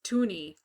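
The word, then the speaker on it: toonie: it's a $1 so tuni was called twwo me because it rhymed with Looney but people are spelling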